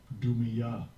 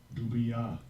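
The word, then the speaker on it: דומיה: Dumya. Dumya. So that's how you pronounce the word in Hebrew for rest.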